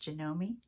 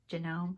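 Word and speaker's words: Janome: me a sewing machine it's a genome I've also heard it pronounced jomi jome but it's got gome in it J no it is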